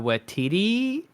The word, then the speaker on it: Waititi: We did start just watching Taika Waititi. I never Yep. feel like I'm getting his last name correctly. No, you're pronouncing it correctly.